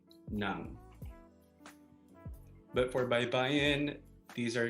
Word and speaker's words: ng: And in Tagalog, we have ng, which is pronounced nang.